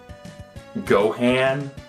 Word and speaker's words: Gohan: character's personality wrong but you can't even pronounce gohan it's go han if